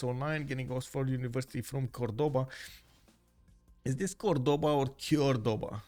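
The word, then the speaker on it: Córdoba: In Spanish, the accent just means you give more emphasis to that syllable.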